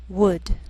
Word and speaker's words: would: Sometimes L can be silent, so you have to be careful. The first 5 words listed below are very common, so let's take the time to make sure that you're pronouncing them correctly. Listen and repeat after me. Talk, walk, could, should, would.